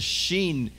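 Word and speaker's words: שין: With a dot on your right, it is pronounced sh, sh. It's called the sheen, sh, sh.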